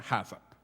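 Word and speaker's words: HACCP: siglas en inglés hhcp o pronunciandolo como lo pronunciaría alguien de habla hispana jasa verdad las siglas hhcp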